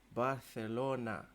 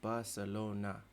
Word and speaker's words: Barcelona: and some well-traveled folk it is is pronounced Barcelona and not Barcelona Additionally the portrayal of